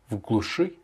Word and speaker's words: в глуши: L'accentuation est sur le U. Enfin, sur le I qui est à la fin, qui se prononce comme un U. Pardon, parce qu'il est après la lettre chat. Donc, в глуши.